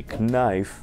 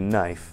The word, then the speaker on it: knife: Вместо know или knife должны говорить know или knife.